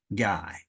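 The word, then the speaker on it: Gai: also a fellow podcaster his name is Mark guy guy by the way is spelled g AI Mark guy Mark had a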